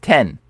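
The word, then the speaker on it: 天: say people this is the word Heaven it's pronounced 10 like the number 10 and this is the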